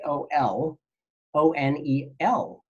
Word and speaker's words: colonel: is the word Colonel and remember everybody how that's spelled that Co L o n e L like a colonel in the Army how is